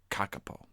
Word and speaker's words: kakapo: f us FS FS kakapo is pronounced kakapo can't make this [